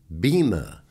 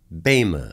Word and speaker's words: Bema: mushiya Baima is usually pronounced by most as bhima but is properly pronounced Baima seat the Bema seat is comprised of a